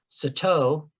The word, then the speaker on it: Sato: And then we have 962, which is pronounced, I want to make sure I get this right, Sato, and that means black in the Rumsen language.